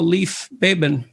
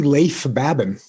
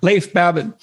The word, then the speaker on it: Leif Babin: the dichotomy of leadership with fellow retired seal leif baben did i pronounce that right it's actually leif babin oh so i didn't pronounce it right at all leif babin he hosts a weekly podcast with brazilian jiu